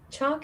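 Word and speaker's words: Chaac: Chalk is spelled Damn, C-H-A-A-C.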